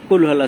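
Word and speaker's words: قُلْ: কুলহু আল্লাহু আহাদ কুল এই কুল শব্দটা একটু জোরে উচ্চারণ হবে যেমন কুল বড়ই আমরা উচ্চারণ বলি কুল বড়ই বলি এরকম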